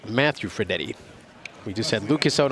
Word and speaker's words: Fredette: Fredette. Yeah, Ferdetti. I added that extra E in my notes here.